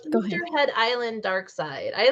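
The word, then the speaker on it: Darkseid: So, isn't it Dark Seed? Yeah, I've heard people say that. It's Dark Side.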